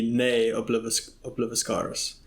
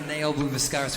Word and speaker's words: Ne Obliviscaris: It's apparently Ne Obliviscaris. I wasn't sure on the ni or ne.